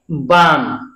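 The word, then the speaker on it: balm: बी ए एल एम, अब इसमें L silent है, क्या है? एल, एल के तुरंत बाद लास्ट में एम हो या के हो, तो ऐसे शब्दों में एल साइलेंट रहता है, इसको हम पढ़ेंगे बाम, क्या पढ़ेंगे?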